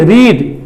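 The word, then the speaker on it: read: পড়া পড়া মানে কি রিড রিডের তিনটা form রিড রেড রেড রিডের present form রিড কিন্তু রিডের তিনটা ফর্ম এক বানান এক কিন্তু উচ্চারণটা আলাদা রিড রেড রেড বানালে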